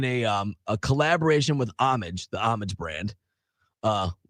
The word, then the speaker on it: Homage: um a collaboration with Amage, the Amage brand. Uh spelled like Homage, but the H is silent and starter had the collaboration.